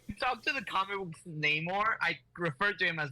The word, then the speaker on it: Namor: he goes to fight Namor. Or Namor. There you Namor go. the... Because if I don't say it how they say it in the fucking MCU, Robert's gonna pop a, Well, you know, pop a casket.